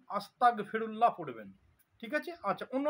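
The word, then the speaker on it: أستغفر الله: আমাকে এরকম বলতে হবে আস্তাগফেরুল্লাহ অনেকজন পড়ে আস্তাগফিরুল্লাহ আস্তাগফিরুল্লাহ আস্তাগফিরুল্লাহ মানে আমাকে কাফের করে দাও ক উচ্চারণ হবে না গ উচ্চারণ হবে আস্তাগ মানে আমাকে পবিত্র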